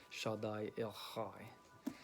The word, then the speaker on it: Shaddai El Chai: It spells it with like a chi. I'm sorry, not a chi. It looks like Kai, but it has a C. But it has more, when I looked up the Hebrew pronunciation of it, it was more of a ha with a H, just the H, like Shaddai El Chai.